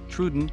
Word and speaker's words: Troodon: truden name meaning wounding tooth pronunciation trudent food habit carnivore who named Joseph Lighty thank